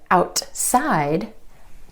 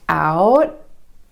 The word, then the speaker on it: outside: Another time you're going to hear the held T is at the end of a syllable when the next syllable starts with a consonant sound. For example, the word outside. Instead of outside, outside. The tongue stays up for the T and goes straight into the S sound. Outside.